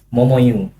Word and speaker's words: Momoyo: Pertama cara bacanya sebenarnya bukan Momoyo Dan. Tuh. Momoyu. Cuman Momoyu. betul. Jadi kebanyakan orang sebenarnya salah sebut sih itu. Bukan Momoyo tapi Momoyu.